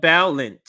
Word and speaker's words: Balint: part I want to talk about let me pronounce her name right so you see her here Becca balint from Vermont and like I said of some